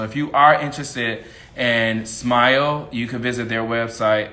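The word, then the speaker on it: SMYAL: So the Smile, and that's spelled S-M-Y-A-L.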